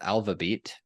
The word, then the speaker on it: ALVABEAT: internet know you as Alva beat Y is that how you pronounce it yeah alab yeah all right perfect so